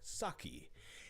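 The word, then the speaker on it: Sauchie: So, it's in Scotland in a town called Saki. It's spelled s au c h i e.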